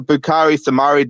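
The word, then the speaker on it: Boubakary Soumaré: should be doing as if as for the bukari samari deal which is how you pronounce his name cheek i was cringing every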